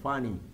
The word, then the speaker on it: funny: es divertido funny sí saludo a todas las Funes que se parece así la pronunciación funny mi amigo es muy